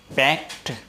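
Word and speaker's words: packed: पैक की second form पैक्ट, इसमें डे नहीं बोला जा करके बल्कि टैब बोला जाता है, पैक्ट। लिखा जाता है ED लेकिन बोला जाता है टैब, पैक्ट।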